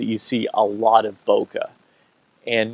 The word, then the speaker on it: bokeh: opportunity to educate what bokeh is and bokeh that's two syllables is actually a little bit faster to say than ambient which is three so a succinct name